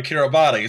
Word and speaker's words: Kiribati: which I promise you, if you look at how this island nation is spelled, you will not believe it's pronounced that way. I was going for Kiribati, so.